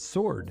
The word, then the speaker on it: sword: Well, I mean, sword, the W is silent in sword.